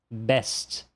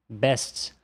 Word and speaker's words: best: Então, olha só, uma palavra como essa, best. Best. Por mais que a representação fonêmica nos diga que o último fonema a ser pronunciado é o t, o brasileiro acaba pronunciando best. Best.